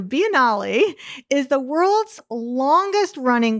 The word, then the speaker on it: Biennale: the venice finale which is kind of spelled like you mean like biennial but it is italian so biennale is the world's longest